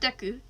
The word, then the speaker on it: Deku: Not Deku, Deku. Like, De, and then Ku.